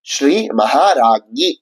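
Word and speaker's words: ஸ்ரீ மகாராஜ்ஞீ: இந்த 2வது நாமம் எப்படி உச்சரிக்கப்படணும் அப்படிங்கறத இப்ப பார்க்கலாமா? அதை ஸ்ரீ மகாராஜ்ஞி அப்படின்னு சொல்லணும்.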